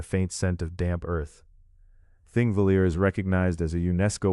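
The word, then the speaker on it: Þingvellir: The first of these is Thingvalier National Park, a place where history and geology rest together in the same wide valley. The name thing is pronounced roughly Thingvetier and it means assembly fields.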